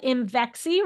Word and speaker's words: Imvexxy: of it and it's called Imvexxy, rhymes with I'm sexy.